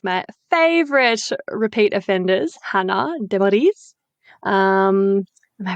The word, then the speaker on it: Demerise: We're doing a Sandy Clam episode today with one of my favorite repeat offenders, Hannah Demoris. Am I pronouncing that correctly?